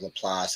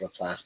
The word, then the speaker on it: LaPlace: I catch it, because everything in New Orleans is pretty much French pronounced. All of our cities, like Laplace, that's why we call it Laplace.